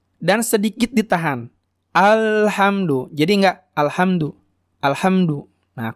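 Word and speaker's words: الحمد: Maka cara bacanya alhamdu. Hamdu. Nah, ada ditahan sedikit gitu ya. Mengalir sedikit. Hamdu. Hamdu. Jadi enggak hamdu, hamdu, enggak gitu. Tapi hamdu. Tapi jangan kelebihan juga. Alhamdu. Nah, itu juga tidak tepat.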